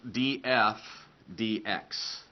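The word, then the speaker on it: dF/dx: written as DF DX okay so this is pronounced DF DX so this has the same meaning as the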